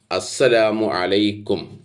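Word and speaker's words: السلام عليكم: പറയുന്ന കാര്യങ്ങൾ ശരിയല്ല, മഖ്റജുകൾ, ഉച്ചാരണങ്ങൾ ശരിയല്ല. അതുകൊണ്ട് തന്നെ അതിൻ്റെ അർത്ഥങ്ങളും മാറുന്നു. അതുകൊണ്ട് നമ്മൾ പ്രത്യേകം ശ്രദ്ധിക്കേണ്ടതാണ്. നോക്കൂ, പ്രവാചകൻ പഠിപ്പിച്ചത് അസ്സലാമു അലൈക്കും.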